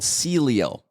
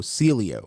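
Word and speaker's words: Sileo: there's a new medication relatively new it's called Celio s i l e o spell that again s i l e o Celio yes and that works really quick um it's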